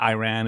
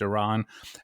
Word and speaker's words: Iran: and here you are mispronouncing our country's name from if not Iran it's Iran and he goes well